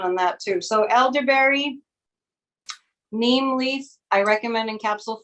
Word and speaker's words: neem: It's spelled N like Nancy, E-E-M like Mary, neem.